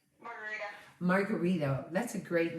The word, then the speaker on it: Margarida: Margarita. Margarita. That's a great name. Can you spell it for me? Margarida.